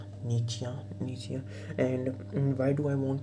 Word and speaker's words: Nietzsche: If you want to pronounce it correctly, if you want to be vocabularly correct, you know, politically correct, vocabularly correct, it's knee, like your knee. Nietzsche.